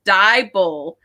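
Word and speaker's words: Deibel: But in case anybody else needs to remember how to pronounce Jennifer's name, she was telling me how it is, and it's Dybel.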